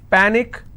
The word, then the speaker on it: panic: so let's break this Panic is PA Nick which means I will stress on PA and it's pronounced at panic tragic tragic I will